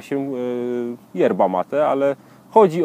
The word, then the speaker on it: yerba mate: No i praktycznie tak to jest, bo wymawia się yerba mate, ale chodzi o to samo jest źródło właśnie z łaciny. Jest kilka różnych nazw, jest yerba mate, właśnie herba mati, herba maci, przeróżnie mówi się.